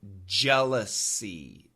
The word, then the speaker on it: jealousy: Another example, jealousy. Jealousy. SY sounds like SEE.